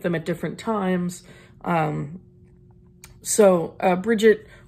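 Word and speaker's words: Brigid: at different times so Bridgette or breed if you want to do the fancy probably more accurate pronunciation boy am i glad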